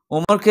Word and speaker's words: عمر: এইজন্য ছোট ছেলের বুকে যদি আপনি আইন, মিম, রে ওমর লিখে দেন, আপনার শয়তানের কোনো আসার থাকবে না। মিম, রা। ওমর উচ্চারণ আরবিতে এরকম।